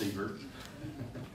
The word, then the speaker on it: sievert: Effective dose, right, measured in, it's pronounced sievert.